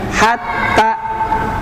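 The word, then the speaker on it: حَتَّى: Jadi kalau hatta kan tasdidnya tidak pada huruf gunnah, maka dibacanya cukup dua ketukan, hatta ya, hatta. Tapi kalau summa karena dia tasdidnya pada huruf gunnah, tambah 1 kali tasdid ya, tambah 1 kali tasdid, maka dibacanya summa ya, tidak summa begitu ya.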